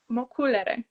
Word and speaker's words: Mocculere: I know it's backwards, but pronounce this one for me the way that you would say it. mokulere.